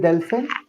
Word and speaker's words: delfín: Yeah, it's el delfín. Muy bien, el delfín. You need to pronounce in because you see an accent on top of I.